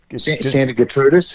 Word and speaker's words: Santa Gertrudis: Santa Gertrudis.